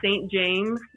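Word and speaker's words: SNT JMS: And then next, I would say St. James, which is spelled SNT space JMS. Okay, like St. John, he but has just like James.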